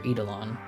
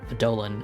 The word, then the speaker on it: Eidolon: The OST for that game, and then the OST for Eidolon, or Eidolon as it's supposed to be said, but I never say it properly.